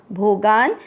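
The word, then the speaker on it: भोगान्: पहला चरण ई के साथ आधा श इष्ट और टा के साथ आधा न इष्टान, भोगा गा के साथ आधा न भोगान, ही की मात्रा छोटी लंबा नहीं खींचेंगे, ही वो देवा।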